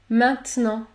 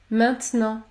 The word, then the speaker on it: maintenant: consonne dans ce cas vous allez prononcer la voyelle nasale un comme dans les mots demain maintenant maintenant ou encore la fin